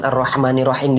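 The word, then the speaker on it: الرحمن الرحيم: Orang kebanyakan salah ketika menyebutkan Ar-Rahmanirrahim di sini, tidak menyempurnakan hurufnya. H.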